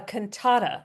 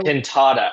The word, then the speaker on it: Cantata: And um just by the way, it's a Canata like a piece of music. So Canada, sorry, I said it wrong.